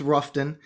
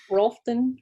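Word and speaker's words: Rutherfordton: here i am though it's r it's roughton ralphton rustin relifordton depending on what part of the county you live in yeah when we were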